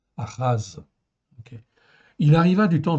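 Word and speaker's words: אחז: Donc le prime H, en fait, ici, c'est une symbolique pour dire que c'est un H qui se prononce presque comme un R. C'est guttural, ça vient du fond de la gorge.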